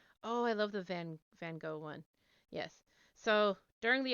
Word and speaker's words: Van Gogh: time to meet um vincent van gogh or venga to pronounce it properly and of course he's